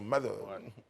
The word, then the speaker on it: Mother: Je prononce bien, hein, avec l'accent Mother. L'entre les dents.